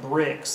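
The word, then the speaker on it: Brix: small it's actually a gigabyte bricks that's spelled br iix just a little computer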